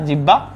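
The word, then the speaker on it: জিহ্বা: আরেকটা আছে দেখো হাইপোফেরিংস, এটা অনেকটা জিওভার মতো কাজ করে, আমাদের যেরকম জিওভা আছে না ভাইয়া, জিব্বা বা শুদ্ধ উচ্চারণ করলে জিওভা, এই জিওভার মতো কাজ করে হাইপোফেরিংস।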